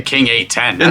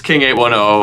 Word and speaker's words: King 810: stuff for this band, apparently that's how it's pronounced. I would always say King 810. That's what I would say, too. Yeah. But apparently it's King 810.